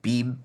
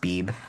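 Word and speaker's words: Bibbe: Um, so Beck's mother, uh, Bibb, I think her name is pronounced Bibb. Beeb Hansen.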